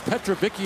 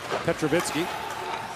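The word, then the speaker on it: Petrovický: His dad was Petrovicky in the NHL, but the correct Slovak pronunciation is Petrovitsky.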